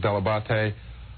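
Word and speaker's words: Dell'Abate: week here on MTV my name is Gary deabate if I want to be Italian I pronounce it deabate I work for a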